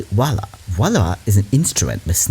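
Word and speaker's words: voilà: states miss we say voila voila is an instrument must know everything and don't know favorite type of person i've got time literally voila is how you say it what this seems like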